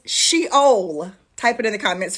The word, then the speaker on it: Sheol: Word number one is the Hebrew word, and it's Sheol.